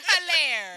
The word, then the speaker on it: Helire: Hilare.